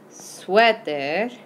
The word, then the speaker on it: suéter: Emphasis on the first syllable there. El suéter.